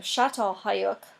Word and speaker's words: Çatalhöyük: This is the village of, or the town, if you want to think about it that way, of Çatalhöyük. That's how it's pronounced.